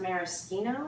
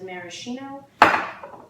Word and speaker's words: maraschino: By the way, this is pronounced maraschino, I believe, whereas that is maraschino.